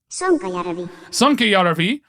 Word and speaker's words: Sonkajärvi: world championship takes place that I have the pronunciation for that I will now play again. Sonkajärvi.